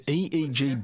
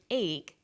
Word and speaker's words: EEG: or an acronym an EEG brain scan helps answer that say the swinburne researchers he says an EEG that's an abbreviation we don't pronounce it egg we say e e g e EEG stands for